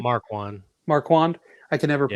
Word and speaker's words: Marquand: I got Ross Marquade. Is that how you say his name? Marquand. Marquand. I can never Yeah.